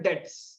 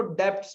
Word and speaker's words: debts: B silent होता है, इसलिए हम लोग बोलते हैं डेट्स। कुछ कुछ कंट्रीज एक्सेंट में उसको डेब्ट्स भी बोलता है।